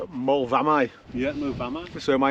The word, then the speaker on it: Moel Fferna: And only just discussing it now, we think that AU isn't U, it's I, so it'll be Moel Fferna.